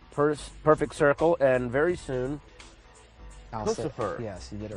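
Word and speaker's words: Puscifer: I'm sitting here with Maynard Keenan from Tool, Perfect Circle, and very soon, Pussifer. Yes, you did it right. Pussifer, I said it right.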